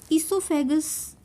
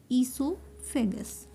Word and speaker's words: esophagus: food pipe is esophagus esophagus o is silent here ESO fagus this is the food